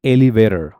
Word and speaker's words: elevator: Because यहाँ पर आप देखो कि T के बीच में A है और O है. Elevator की स्पेलिंग में T के पहले भी वॉवल है, बाद में भी वॉवल है. Then it is changed to what? Elevator. Elevator.